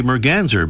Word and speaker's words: merganser: common merger a common Merganser or some say merganzer but you can pronounce it either way but unfortunately it wouldn't